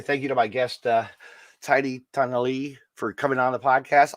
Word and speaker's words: Tanaily: Let me see if I say it right. Yes. Tanaily. You did. Good job.